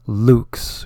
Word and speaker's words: LVX: Osiris lean position and say L V X Luke's which means light and in gosh what is it known what the Romans used to be Latin yes Len so lvx Luke's and then keep your